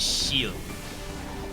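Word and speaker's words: Ciel: I think they pronounced it Shield. C-I-E-L.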